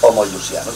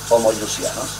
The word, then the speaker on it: homoiousianos: Como homo se escribe con espíritu áspero, pues homoiousianos, así, homoiousianos. Se termina el concilio, pero el día en que iban a cerrar aparece el emperador.